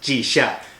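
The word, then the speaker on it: Jixia: also geisha's road and jisia academy if you happen to have g-shot yes that's right it's pronounced g-shock x in chinese is somewhere between s and s-h in english sorry linguistic nerd i'm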